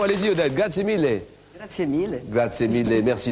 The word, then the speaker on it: grazie mille: C'est une bonne prononciation, allez-y Odette, grazie mille.